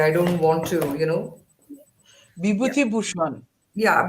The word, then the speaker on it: Bibhutibhushan: I don't want to, yeah, Bibhutibhushan. yeah, Bibhutibhushan Bandyopadhyay, right?